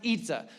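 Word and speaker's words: 椅子: And in Mandarin, the word for chair is Y-I-Z-I, and you're like, they don't have our letters. I know, let's not go too deep, but it's pronounced Itza.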